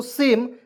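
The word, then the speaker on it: same: तो देखिए एस से होता है, स होता है, यहाँ पे ए को छोड़ेंगे, एम से म लिख देंगे, और अंतिम में ई है, इसका उच्चारण ए के रूप में करेंगे, क्या हो जाएगा, सेम, ठीक है।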